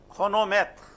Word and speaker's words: chronomètre: Chronomètre. See, here it is cr.